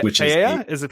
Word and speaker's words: paella: Which paella? Is it paella? Is it paella? Okay. Yeah. I guess the L's are silent.